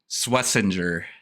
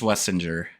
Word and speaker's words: Swessinger: Uh, so Dylan, your next name is Carson Swessinger. Just Swissinger. Schwessinger.